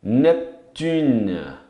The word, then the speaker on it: Neptune: Netuno, Neptune. É um P mudo ali, bem mudo mesmo. Então, não pronuncia o E, vai até no N.